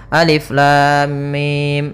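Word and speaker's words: الم: Maka cara yang benar membacanya adalah seperti ini: alif lam mim. Panjangkan dulu lamnya.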